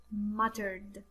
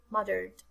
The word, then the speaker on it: muttered: three is the word muttered muttered the the double looks like d mother okay it's not not the mothered mothered okay i hope you